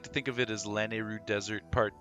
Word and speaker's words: Lanayru: And because it's like Nehru. Yeah. I still say Nehru. I just say Lanehru.